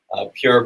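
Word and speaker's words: Pjur: Pure Black, and that's spelled P-J-U-R.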